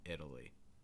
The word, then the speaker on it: Italy: another case where that fast d sound really doesn't need to make contact with the top of your mouth just italy italy okay if you're saying italy or italy or italy or things like that not quite um what you're going to hear in the u.s you're more likely to hear italy italy all right if things